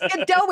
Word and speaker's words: Godot: Everybody's been waiting for Godot, So, and most people are pronouncing it, it's Godot. I'm like, it's Godot.